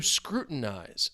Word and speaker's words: scrutinize: That T is more of a glottal stop.